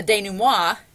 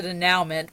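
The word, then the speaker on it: dénouement: of unravel from there the Dana moi and I used to call it the de now mint before my uncultured self was was taught how to properly pronounce this word and the Dana moi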